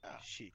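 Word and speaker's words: 谢: She. Like XI. XIE. Oh, it's almost like you're saying shush or something.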